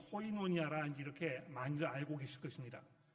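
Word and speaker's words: κοινωνία: 이 헬라어에서는 이렇게 V자로 보이는 이 단어가 V가 아니고 N으로 발음이 됩니다. 그래서 여기 보시면 이제 코이노니아 이렇게 읽게 되는 것인데 이 헬라어 단어를 영어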